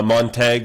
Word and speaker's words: Montague: we've got uh uh montag which is i i go hunting out there uh and it's spelled basically montague but it's pronounced montag well that would be